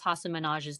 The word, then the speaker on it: Hasan Minhaj: Hasan Minhaj, Google how do you pronounce Hasan Minhaj's name?